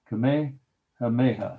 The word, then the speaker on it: Kamehameha: I'll spell it Kamehameha. Kamehameha.